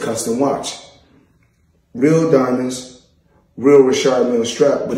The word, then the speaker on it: Richard Mille: Now, I must let everybody know, because everybody pronounce it different. Some say Richard Mille, myself, I say Richard Mille, because that's what I was told in 2012 when I first purchased the watch.